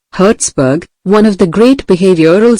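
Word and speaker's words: Herzberg: Frederick Herzburg, Herzburg, pronunciation, Herzburg, one of the great behavioral scientists, concurred.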